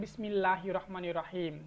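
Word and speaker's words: بسم الله الرحمن الرحيم: Bismillahirrahmanirrahim. Nah, gitu ya, harus jelas pelafalannya, jelas pula maknanya.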